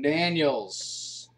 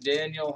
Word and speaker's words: Danielle: Chips, Dante Fowler, and Danielle Hunter, Danielle Hunter. I think they actually pronounce that Daniel.